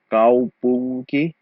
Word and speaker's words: kaupunki: So kaupunki, the N sound isn't really an N because in the combination of NK, the N is an ng sound. Kaupunki, kaupunki, just like in English, okay?